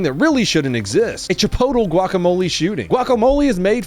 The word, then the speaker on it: Chipotle: How do you say Chipotle? Is it Chipotle? Si. Oh, okay. It is Chipotle.